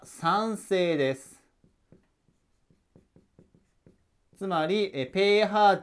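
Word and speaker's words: pH: ペーハー値ですねばペーハーと読むんですがペーハー値が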